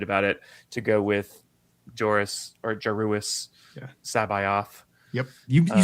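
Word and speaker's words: Joruus C'baoth: I'm really excited about it to go with Joruus Sabayoth.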